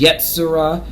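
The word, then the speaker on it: יצירה: But yeah, that's if we want to get the names in there, is Yetzirah is the formation of the mental plane. That's how you say it in its Hebrew tongue, Hebraic tongue.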